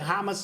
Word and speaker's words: Hamas: I think it's pronounced Hamas. Hamas. Oh, okay, got you. Hamas. Say hummus, whatever.